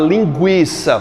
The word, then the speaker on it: linguiça: A palavra linguiça, por exemplo, que tinha o trema no U, era para dizer para eu não falar linguiça. Então ele era um sinal diacrítico para dizer que aquele U era o quê, gente? Era pronunciado, não formava um dígrafo em linguiça.